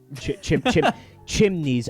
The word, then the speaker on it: chimney: chimneys on the side chimneys i have this thing man my entire life i have been pronouncing chimney with an extra syllable in it chimney chimney you know wait did you